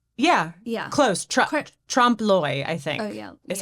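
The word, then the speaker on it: trompe-l'œil: Déolé. Yeah. Yeah. Close. Trompe-l'oeil, I think.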